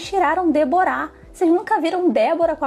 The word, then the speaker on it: Débora: pela primeira vez e o nome ele falou com a entonação Déborá, só porque tinha o H no final.